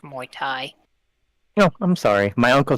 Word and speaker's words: Muay Thai: technically what it's called actually it's pronounced Muay Thai oh I'm sorry my